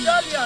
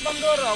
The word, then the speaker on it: Dalia: Her name is Dalia, not Bandora. Why you tell me Bandora? Dalia, Bandora, it's almost. Yes, it rhymes.